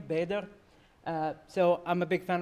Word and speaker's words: Bader: a way for people to know how to pronounce my name Bader so I'm a big fan of Linux I've